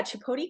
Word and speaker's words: Chtapodi: Let's talk a little bit about the name Chtapodi Collective. Am I Mhm. saying it right? I actually Googled it. So, Yes. So yeah, Chtapodi Collective.